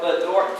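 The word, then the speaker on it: BDORT: The little test we do at Columbia called Bedort testing, B-D-O-R-T. Everybody say Bedort. Spell it with me.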